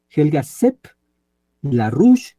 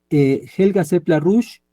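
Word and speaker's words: Helga Zepp-LaRouche: Z y doble P, Helga Seppler-Rouge, que se escribe la Rouche, tal como suena, Helga Seppler-Rouge en CGTN, C de casa, G de gato, T de Teresa y N de nana.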